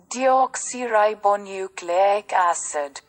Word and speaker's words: deoxyribonucleic acid: Pronunciation देखना है तो ये deoxyribonucleic acid. Deoxyribonucleic acid.